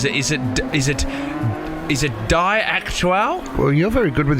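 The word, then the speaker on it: Die Aktuelle: Now, I don't know how to pronounce this. Is it Die Aktuell?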